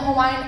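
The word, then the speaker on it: Hawaiʻi: in the Hawaiian alphabet, W's are pronounced as V's. So it's Hawaii.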